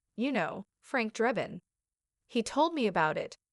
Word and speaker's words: Drebin: It's Drebin actually like Leslie Nielsen in the naked gun. You know, Frank Drebin, he told me about it.